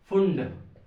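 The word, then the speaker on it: Pfund: तो देखो 5th number का है फुंड, पी साइलेंट रहता है, फुंड सीरीज।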